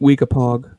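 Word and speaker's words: Weekapaug: uh stonington watauhil i don't know how to pronounce it wikipaw i don't know wheat weakapog that's right is it is it p-a-u-g yeah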